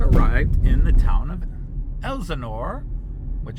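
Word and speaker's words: Helsingør: So we are in the car and we've arrived in the town of Helsingor, which has a silent H in the front.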